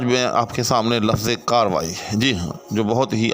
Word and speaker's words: کارروائی: انہوں نے اس کے خلاف کارروائی کی۔ اس کے خلاف کارروائی نہیں ہونی چاہیے،